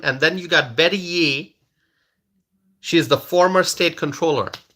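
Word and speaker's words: Yee: all right Betty ye the last name is y e e I think it's pronounced ye Betty ye okay Betty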